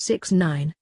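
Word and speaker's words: 6ix9ine: twenty one day apocalypse six six nine nine pronounced six nine is an American rapper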